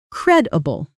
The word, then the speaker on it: credible: Credible. Stress on the first syllable.